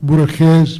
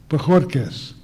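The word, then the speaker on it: Bojórquez: Javier Valdez Cardenas and Ismael Borges Perea, is that correct? Did I say it right? Bojorquez.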